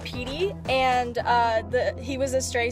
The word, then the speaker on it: PT: So her dog's name was PT, pronounced Petey, and he was a stray, so the pound named him PYT originally, which stood for Poor Yellow Trash.